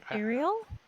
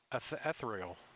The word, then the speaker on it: ethereal: say it wrong yeah i say it wrong ariel ethereal ethereal it's like tomato tomato